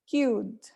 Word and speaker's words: cued: nice so the verb we say cued cued how many syllables do you think it has how many vowel sounds do you hear cute cute yes only one syllable because you have only one vowel sound so it's important for